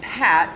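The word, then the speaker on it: Patte: But then I got downstairs, and Pat, P-A-T-T-E with a silent E, was down here and started telling me about it.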